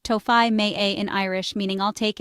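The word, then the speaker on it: Tógfaidh mé é: Once you decide on something, simply say, togfide me e, pronounced tofai me a in Irish, meaning I'll take it.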